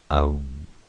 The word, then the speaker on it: Om: Pronounced Om, which is the word used for calling or to symbolize the great God.